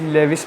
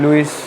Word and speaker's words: Lewis: अच्छा, ये लेविस भी कुछ पढ़ते हैं और लुईस भी पढ़ते हैं, कोई मसले वाली इसमें बात नहीं है। आपको जैसे ठीक लगे आप प्रोनाउंसिएशन कर सकते हैं। लुईस वैसे अगर आप करें तो ये ज़्यादा बेनिफिशियल है, प्रोनाउंसिएशन आपकी करेक्ट होनी चाहिए।